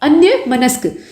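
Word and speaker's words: अन्यमनस्क: अन्य मनस्क ये शब्द जो आप देख रहे हैं ना इसका सही उच्चारण करिएगा।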